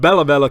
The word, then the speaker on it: Bella: Bella. Rhymes with Vela. That's right. There's a Vela. Pulled out the old Bella combo.